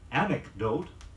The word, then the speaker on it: anecdote: to an earlier one here's a pair of words frequently confused in pronunciation anecdote am e CD OTE an antidote a and tid OTE an anecdote is